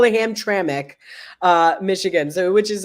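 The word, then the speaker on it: Hamtramck: where's that one at it's gonna be in ham traic which is funny because like it's pronounced ham traic okay but like the way it's spelled is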